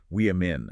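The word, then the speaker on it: women: The singular is woman sounding like woo. But the plural shifts entirely to a short I sounding like wein.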